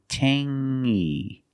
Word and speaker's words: tangy: It's the nasal sound only. Tangy. Tangy. It's not tangy, it's tangy.